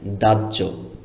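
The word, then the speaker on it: দাহ্য: হ উচ্চারণ করা যাবে না। এটা চিরকাল মনে রাখতে হবে। বাহ্যিক সহ্য বাহ্যিক। দাজ্য।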